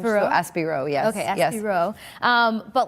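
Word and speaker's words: Aspirot: Or like Asperat? Yeah, I think the T is silent because he's French. Aspiro? So Aspiro, yes.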